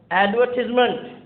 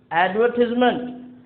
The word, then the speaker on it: advertisement: So in British English we pronounce it as advertisement. Advertisement, whereas in American English we pronounce it as advertisement.